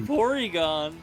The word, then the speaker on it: Porygon: Porygon.